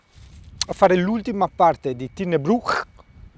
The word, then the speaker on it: Tighnabruaich: Oggi ti porto vi porto a fare l'ultima parte di Tin Brew, si dice così, eh si pronuncia così, che è la parte sud ovest.